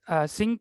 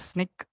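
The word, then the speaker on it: Snyk: that your code has what sync provides is uh actually it is Sneak actually to pronounce it what it provides I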